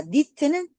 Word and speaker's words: knit: 그래서 니트의 K는 발음이 안 되고, 자, 니트는 촘촘히 짜다 이 뜻이야.